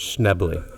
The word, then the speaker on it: Schnebley: Say it in 2 syllables. Schnebley.